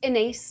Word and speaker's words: Inés: Hi everybody, my name is Inés. I always say rhymes with face or with space, occasionally with disgrace, anything ending with ace.